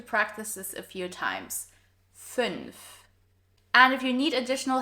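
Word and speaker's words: fünf: 0, 1, 2, 3, 4, 5. This one is a little tricky to pronounce because of the NF combo, so make sure to practice this a few times. 5.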